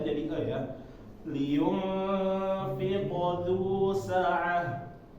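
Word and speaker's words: لِيُنفِقْ: Liyunfiq dzu sa'ah. Ini fi ya, fi. Nah, banyak orang-orang kalau belakangnya sebelumnya kasroh itu jadinya ya, fiqh. Nah, ini keliru.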